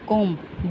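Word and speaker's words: comb: सी ओ एम बी लिखेंगे कॉम्ब पढ़ेंगे कॉम्ब B silent है।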